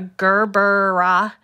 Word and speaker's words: gerbera: be doing a couple of flowers including a gerber that's how i'm told to pronounce it gerbera dz um and hopefully an